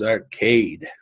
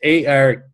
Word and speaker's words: Arkad: So they called the richest man in Babylon, which was Arcade. Okay, it's Arkad. I think that's how pronounced it's Arcade.